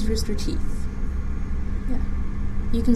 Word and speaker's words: Rooster Teeth: pretty much and uh is it Rooster Teeth or rooster tooth it's Rooster Teeth yeah you can spell